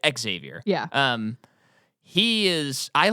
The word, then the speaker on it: Xavier: I didn't pronounce it right. Xavier.